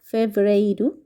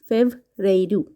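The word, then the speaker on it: fevereiro: ফেব্রুয়ারি ফেব্রুয়ারি কে Portuguese ভাষায় বলা হয়ে থাকে ফেভরাইরু ফেভরেরু মার্চ কে বলা হয়ে থাকে পর্তুগিজ ভাষায় মার্সু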